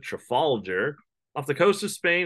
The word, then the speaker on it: Trafalgar: French and Spanish Fleet at Trafalger that's how you pronounce it Trafalgar off the coast of Spain in 1805.